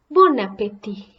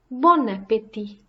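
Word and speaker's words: bon appétit: now repeat after me bon voyage bon voyage Bon Appetit Bon Appetit enjoy your meal or killed Abaddon and you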